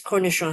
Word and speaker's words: cornichon: Okay, French word it's cornichon. I don't know how to pronounce that.